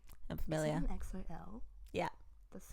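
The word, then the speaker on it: EXO-L: Is it an XOL?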